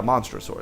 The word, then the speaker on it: Monstrosaur: Yeah, Monstrosaur. That's it. I was like, I've heard this card pronounced before, but I was trying to remember.